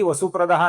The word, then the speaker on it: वसुप्रदा: पश्चात क्योंकि आगे भी वसु प्रदा नाम है। आगे व आने के पश्चात इस विसर्ग का लोप हो जाता है। यह विसर्ग निकल जाता है। इसलिए आपको यहां पर विसर्ग दिख नहीं रहा है।